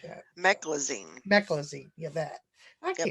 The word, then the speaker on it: meclizine: And then they put me on prednisone and something called mesaline for dizziness or something like that. Meclizine. Meclizine. Yeah, that. I Yep. can't pronounce that stuff half the time.